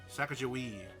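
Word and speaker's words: Sacagawea: Sakajoui. Yeah. It it doesn't sound the way it's spelled.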